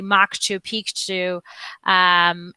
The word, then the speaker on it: Machu Picchu: which by the way we actually need to pronounce it correctly moksha Pikachu and back to Lima but if you're interested